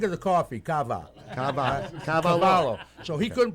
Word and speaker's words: Cavallo: J yeah now you notice how he said cavello I know he said FR did they now